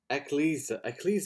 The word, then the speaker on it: Ecclesia: I can never pronounce the last bit. Oh, what's that? Ecclesia.